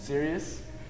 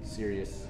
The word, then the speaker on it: Sirius: Sirius.